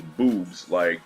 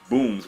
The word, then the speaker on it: Booms: I thought her name was Boobs, like boobs, you know, but it's Booms with an M.